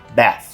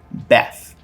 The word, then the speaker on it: bath: essa palavra aqui que no inglês americano a gente vai pronunciar como bath bath quase que de uma forma curta Exatamente esse a que é entre um a e um e que seria novamente esse símbolo bath no inglês britânico esse som ele vai